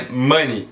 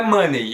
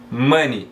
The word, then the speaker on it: money: em inglês é que você não pronuncia esse E. É money, não é money. Eu já vejo muita gente pronunciando money ou money. Não existe essa pronúncia, é money, beleza?